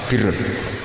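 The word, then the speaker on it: بِرّ: Ya kalau di isim fa'ilnya umumnya guru-guru kita baca barin, tapi untuk masdarnya, untuk kebaikan bacanya apa? Birun. Nanti kamu protes, oh barun itu daratan Gus, kalau birun itu kebaikan.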